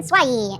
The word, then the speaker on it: Swai: Swee. Swai. I went to a horror con and someone was like, Swai. and he walked out, he's like, I'm sorry, that's how to pronounce my name.